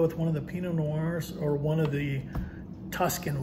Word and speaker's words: Noir: Noir. Yeah, it's a hard one to pronounce. It's a hard one, yeah. Noir. Think of film, think of film noir.